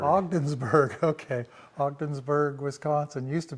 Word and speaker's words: Ogdensburg: And how do you pronounce the name of this town? It's really different. Ogdensburg? Ogdensburg. Ogdensburg, okay.